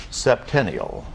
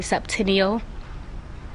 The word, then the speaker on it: septennial: And Kiana, your word for this round is going to be septennial.